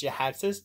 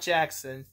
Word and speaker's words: Jhiaxus: It's Jhiaxus. Jhiaxus. Jhiaxus. Not Jackson. Jhiaxus.